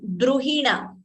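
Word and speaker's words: द्रुहिण: So please note the difference between pronouncing this Dru. This is Druhina. D, R and Ukara. So Dru, U should be heard. Whereas this is Grihini. It is not Gru. It is Gr. So Druhina, Grihini.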